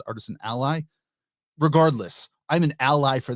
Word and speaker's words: Artisan Ally: Aly or Artisan Ally I never know how to pronounce that really but um I believe a John who is the developer behind that lead of Lux to Builder says Artisan Aly but I read it as Artisan Ally regardless I'm an Ally